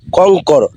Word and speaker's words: কঙ্কর: সংযুক্ত কং ক অনুসর কঙ্কর উ এর উচ্চারণ কিন্তু অনুস্বর হয় উ এর উচ্চারণ অনুস্বর হয় আপনারা কি বুঝতে পেরেছেন দেখুন এটা হলো উ আর অনুস্বর উ এর উচ্চারণ সবসময় অনুস্বর হবে এটা মনে রাখবেন কঙ্কর